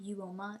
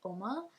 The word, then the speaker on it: Uoma: It's not Uoma, it's Oma.